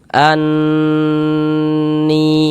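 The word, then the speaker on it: أَنِّي: Karena dia gunnah, maka cara membacanya kita gunnahkan. Anni seperti itu. An, di bagian annya itu suaranya itu kita tahan ya, kita panjangkan sejenak. Anni seperti itu. Kemudian ni dibaca panjang.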